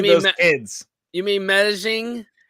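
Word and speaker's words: Medellín: Meddling. Meddling, like mean those kids. You mean Medellin? Like Medellin? Because remember the 2 L's is a Y.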